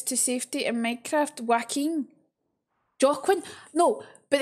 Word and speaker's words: Joaquin: Joaquin, not Joaquin, not right, it's Joaquin. Yeah. It's Spanish.